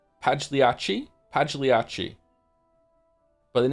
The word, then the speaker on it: Pagliacci: I know this joke, but how do you say the name of Pagilici? Pagliaci? Pagliacci.